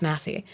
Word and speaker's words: Massie: it m Massie Massie I want to say Macy because the way it's spelled but it's Massie um should be primar